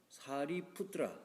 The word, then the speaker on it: 사리푸트라: 그러니까 음력과 의역을 했는데 인도식 발음으로 하면은 사리푸트라 사리푸트라 이렇게 발음이 되는 건데 중국에서는 사자라고 이렇게 했는데이